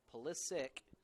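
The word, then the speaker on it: Pulisic: player Christian polis sick which is spelled with a C and I think his family's Serbian and normally it would be pronounced with a CH but he decided he wanted to quote unquote American eyes it so he goes by that and that is literally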